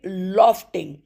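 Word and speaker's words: Lofting: और यह लॉफ्टिंग लॉ फ पे एफ पे ज्यादा जोर देना है।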